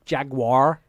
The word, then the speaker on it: Jaguar: Not Jaguar. Jaguar. Jaguar. Jaguar. Uh-huh. 3 syllables.